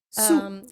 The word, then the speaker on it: Soa: Alors c'est SOA, Sou, oui, tout on prononce.